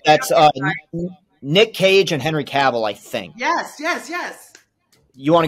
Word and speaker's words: Cavill: Okay, I believe that's Nick Cage and Henry Cavill, I think. Yes. You want to go with that, Joey? You feel good about that? Yes. All right. Yeah, so Nick Cage and Henry Cavill. Cavill.